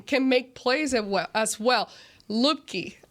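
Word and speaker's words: Luepke: Lupke. Am I saying it right? Yeah, Lipke.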